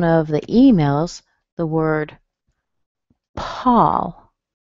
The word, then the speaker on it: Paul: I mentioned in one of the emails the word Paul. I wanted to bring this up because I often hear my students say pole.